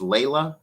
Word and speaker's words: Layla: Oh, it's pronounced Layla. Oh, okay. I never would have guessed that. I thought it was like Leisha or Laj.